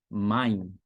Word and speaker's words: mein: Um exemplo bem simples aqui, para você falar a palavra alemã meu, você fala mein. Mein, tem E e tem I aí, então sou como I. Mein.